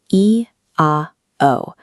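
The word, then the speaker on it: IAO: the silent invocation of the holy name. Focus on the phonetic mechanics. Inwardly draw out the vibration of the name I A O, O, pronounced E A O, over several seconds.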